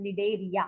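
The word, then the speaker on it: Cnidaria: अगर एग्जाम में क्वेश्चन आता है, right a short note on निडेरिया, C silent है वहां पे, right a short note on निडेरिया.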